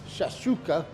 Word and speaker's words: shakshuka: We've got Shakshouka, That's how you pronounce it.